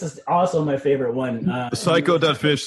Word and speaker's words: saiko.fish: So psycho.fish is spelled SAIKO.fish.